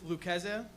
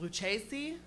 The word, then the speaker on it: Lucasa: good night yeah well my name is lucasa i know it's hard to pronounce but i also accept luchazi with chase and uh lucky cheese